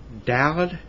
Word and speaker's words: Daled: Vet is spelled V-E-T. Okay, the three after that, Gimel, Daled, Hey.